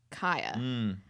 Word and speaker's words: Khia: And I think I I you're right that their name is pronounced Kia. Yeah, so let's let's give some background. The Kia Asylum, I'm going to say Kia, I'm sorry everybody.